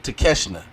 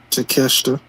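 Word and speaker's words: 竹下: The 6-man tag team match, Bullet Club Gold, Jay White, Juice Robinson, with Kenosuke Takeshita. Did I say it right? Takeshita.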